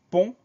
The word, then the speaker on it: pont: Donc une seule syllabe, P-O-N-T. donc le son on sans surprise, il y a une lettre muette à la fin, le T.